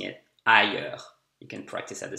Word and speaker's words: ailleurs: Ailleurs. Cherche pas dehors. Ailleurs, that means elsewhere. It's a bit difficult to pronounce. He has a hard time pronouncing it. Ailleurs.